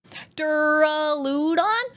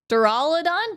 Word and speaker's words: Duraludon: Durudon. Duraludon. It's pronounced Dur Duraladon.